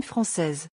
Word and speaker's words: française: Tip, if you're a woman, you have to add to some nationality and the will also be pronounced. Like, français will become française.